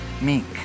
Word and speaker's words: mink: Is it mint or is it meek? Mink. What is meek? Mink condition. How do you spell that? That's how Andy Crandall called it. He called it mink condition. Like I'd say M-E-E-K? mink, M-I-N-K, mink.